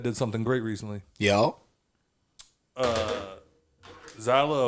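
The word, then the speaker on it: Zaila: Zyla Avant. I think it's Zayla.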